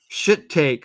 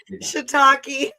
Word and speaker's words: shiitake: There's shit take wedge salad with cannabis blue cheese dressing. Say that again. What is that? Shit take. How do you pronounce it? Shiitake.